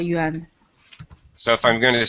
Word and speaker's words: yuan: Yeah, it is called yuan. So if I'm going to spell that, would that be Y-U-A-N?